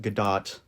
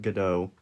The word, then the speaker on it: Gadot: to get a disclaimer i know she pronounces it gadot not godot but the rest the world says get out when you know you